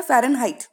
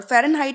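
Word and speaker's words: Fahrenheit: तो फर्स्ट है फारेनहाइट. Height, height की स्पेलिंग एक ऐसी है जो सभी को पता होगी. तो अगर मैं यहाँ लिखूँ एच ई आई जी एच टी हाइट, तो हाइट में ई आई आता है और फारेनहाइट के साउंड में भी हाइट आता है, फारेनहाइट. तो हाइट से आप थोड़ा सा याद रखेंगे कि हाँ ई आई वाला वर्ड था, तो फारेनहाइट की स्पेलिंग में ई आई आएगा.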